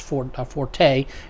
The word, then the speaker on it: forte: By the way, it is pronounced forte.